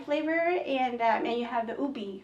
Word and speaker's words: ube: and you have the ube, right? Mm-hmm. Is that how you say ube? Yeah, so we pronounce it ube, but ube.